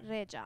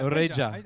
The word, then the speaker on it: Rexha: Oh, okay, but in Albanian, it's Rexha. Yeah, Rexha.